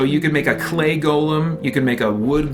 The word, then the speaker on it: Golem: no in this game the concept you're referring to is a Golem it's not a Gollum it's a Golem and it's all over